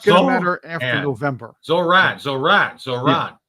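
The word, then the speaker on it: Zohran: Zoran. Yeah, it's like Duran, only without the dur.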